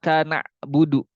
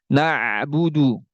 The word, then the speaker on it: na'budu: Jadi bacanya gimana? Ini yang salah ya. Iya kana budu, kana budu, nak budu. Nah ini tidak tawasud. Tawasud itu antara mengalirnya suara dan tertahannya suara. Lantas bagaimana? Na'budu, na'budu, na'budu.